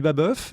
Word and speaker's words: Babeuf: En tout cas, je crois qu'on dit Babeuf.